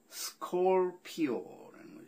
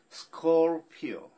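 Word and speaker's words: Scorpio: 이 스콜피언스의 음악이 중요한 게 아니라 전갈자리는 스콜피오. 스코르르 발음을 살짝 내는 둥 마는 둥 하면서 넘어가는 스콜피오, 스콜피오, 스콜피오.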